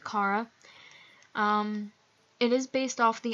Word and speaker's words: Chara: I pronounce it Kara.